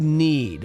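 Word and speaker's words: Knead: going to do that it's called need which is a great name for a a uh perfume yes cuz you need the dough and it's spelled k NE e a d clever uh it's going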